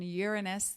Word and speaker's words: Uranus: by Saturn Aquarius by the planet Uranus that is correct pronunciation Uranus the planet dealing with